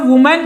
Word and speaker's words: women: अब इसी तरीके से वूमेन जो है यहां आपको एक और बात ध्यान रखनी है जब वूमेन को हम प्लूरल में बदलते हैं तो वहां पर उसका उच्चारण भी बदल जाता है यह अभी आपने दिमाग